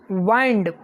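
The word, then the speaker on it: wind: वाइंड, विंड और वाइंड spelling दोनों की सेम है पर प्रोनाउंसिएशन डिफरेंस है।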